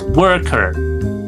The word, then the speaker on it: worker: E di sini juga sama ya, berubah menjadi eh e juga ya. Jadi bukan worker. I work. Nah, enggak ada O, adanya E. I work. I work. I work at PTX YZ Company. I'm a worker. Salah itu kalau O ya. I'm a worker. I'm a worker at PTXYZ Company. Ya, British maupun America. American sama sama mengadopsi e ya untuk worker. So, do you want to be a worker?